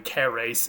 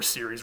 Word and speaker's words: Ceres: In the Roman tradition, she was named Ceres, would have been a hard C originally, Ceres in Latin, and we get words like cereal from this particular goddess's name.